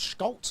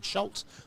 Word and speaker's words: Schultz: Now, I said this name wrong. I've only found out. I think it's Schultz. I've been saying Schultz. I don't think the C is silent.